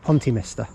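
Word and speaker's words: Pontymister: I thought it was Minster, it's Mister, Pontyminster.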